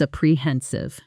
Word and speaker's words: apprehensive: Once more with the stress in the right place. I was apprehensive. Good. That middle syllable carries the weight.